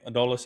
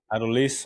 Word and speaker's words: Adolis: How do you say Adolis, actually? I'm sorry. Adolis.